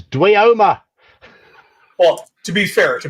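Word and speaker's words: dweomer: And I can guarantee that none of us here pronounced it Dwimmer when they first saw it. This first one I'm seeing it now. Before I saw it, so I did. So I'd heard the word pronounced before I saw it. See, I hadn't. It was Dwioma.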